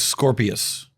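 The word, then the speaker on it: Sqorpius: What is Scorpius? Spelled with a Q, of course.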